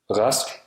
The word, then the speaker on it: Rask: At the beginning of words, R is pronounced as R, a voiced uvular fricative, or R, a voiced uvular approximant at the back of the throat. For example, Rask.